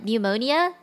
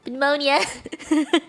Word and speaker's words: pneumonia: it at the moment pneumonia yeah and I got so confused because I knew that the P was silent I just kept wondering